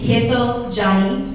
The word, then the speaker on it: Hetal Jani: When your name is mispronounced, and I appreciate all who tried to say my name tonight, for the record, it's Hetal Jani, and I've been practicing that myself because I've learned how to mispronounce my name since grade school.